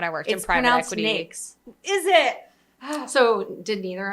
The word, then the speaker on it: NAICS: Nakes. Like cakes.